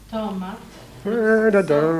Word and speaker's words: tomat: Tomat. Vad heter grönsaken? Va? Vad heter grönsaken? Tomatsoppa. Ja, grönsaken, det första. Tomat. Tomat. Tomat. Tomat. Tomat. Tita, va? Betoning på den andra stavelsen.